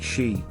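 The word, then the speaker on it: 四: for that is because the number is sometimes pronounced or sounds like she which is the japanese word for death as a result you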